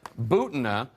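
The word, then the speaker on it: Butina: development accused Russian spy Maria Booton rhymes with Putin may have reached a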